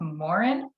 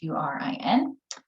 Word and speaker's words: Mahurin: The author's name is Shelby, I believe it's pronounced Morin, so Mahurin. This is this author's debut novel, so this is her first published work.